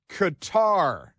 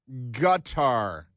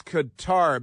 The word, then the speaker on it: Qatar: Israel has carried out a strike in Doha, in Qatar, which is pronounced Qatar and not gutter or gutter. It's Qatar because we speak English and it's the English pronunciation of Qatar, Qatar.